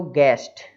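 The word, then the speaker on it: guest: में कोई यू, तो यू जो है वो साइलेंट हो जाता है। जैसे लिखा हो गेस्ट, है ना, अतिथि, ऊपर गैस अनुमान, है ना, गाइल कपट।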